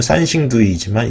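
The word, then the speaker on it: 三星堆: 중국 발음은 산싱두이지만 이 기사에서는 쉽게 삼성태라고 하겠다라고 하고요.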